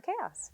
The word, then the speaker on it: Kaos: My last name is pronounced Os, so I'm Chaos.